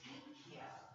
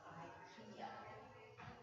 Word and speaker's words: IKEA: It's IKEA, not IKEA. Oh. IKEA. A Swedish lady told David Schaeffer, we're going with the Swedish pronunciation.